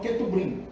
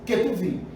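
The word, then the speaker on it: כתובים: Outros colocam Ketubrim, mas lê-se Ketuvim. Então, é Torá, Nevim e Ketuvim, tá certo?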